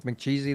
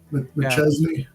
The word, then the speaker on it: McChesney: Is McCheesy then? Or McCheesy, how you pronounce it? McChesney.